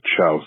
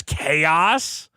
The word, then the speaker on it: chaos: I also called them the Chouse Emeralds. The Chouse Emeralds. See? No kid knows how to pronounce chaos. That doesn't look like chaos at all. It starts with a C.